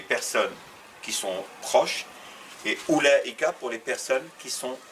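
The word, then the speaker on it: أولئك: Là c'est ou, c'est pas aou, non, c'est ou, la hamza e, mais on met une kasra. I-Ka. Donc ça se prononce Oulaïka.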